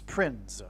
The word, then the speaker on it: Prinze: And that's why this actor's name is Prinze, P-R-I-N-Z-E. I don't know how you pronounce it. It could even in fact be pronounced as Prince. I don't know. But it definitely rhymes with Prince nonetheless.